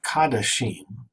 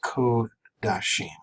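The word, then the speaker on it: קָדָשִׁים: Secondly, notice that the first comets in what looks like kadashim is actually a comet's chatuf and is pronounced as a long O. So it's kodashim and kod-she.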